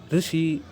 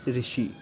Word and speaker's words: ऋषि: इसका सही उच्चारण होगा, जो कि कुछ ऐसा है ऋ ऋ ऋषि, ना कि ऋषि। ऋषि इसका सही उच्चारण नहीं है, इसका सही उच्चारण ऋषि।